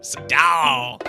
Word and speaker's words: Seagal: Seagal.